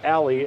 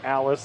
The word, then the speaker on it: Allie: Believe I heard someone say her name is Allie, and I was calling her Alice the entire first round matchup, so I apologize for that. We'll call her Allie.